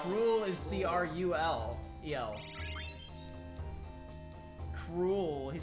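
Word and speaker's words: K. Rool: Cruel. He spelled it. He pronounced it right. K-R-O-O-L. Cruel.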